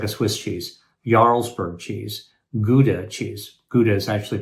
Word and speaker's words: Gouda: which is like a Swiss cheese, ylesburg cheese, gouda cheese. Gouda is actually pronounced howa in the Netherlands.